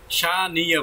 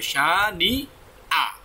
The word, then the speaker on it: شانئ: না ম্যাক্সিমাম মানে বেশিরভাগ 90% শানিয়া বলে আসলে শানিয়া হবে না তাহলে নুন জের নি ইয়ার জবর হয়ে যাবে এখানে তো ইয়া নেই এখানে কি আছে হামজা আছে হামজাটা উচ্চারণ কি হয় আলিফ হয় তাহলে কি হবে শানি আ ইয়া হবে না কি